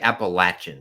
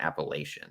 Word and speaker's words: Appalachian: because apparently they get really offended if you pronounce it wrong it's like appalachin State and not Appalachian you have to get appach appalachin I think